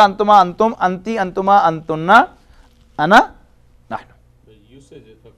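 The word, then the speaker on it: أنا: Meri ana badi mutassir ho rahi hai. But in Arabic it is pronounced as ana. The alif is not pronounced.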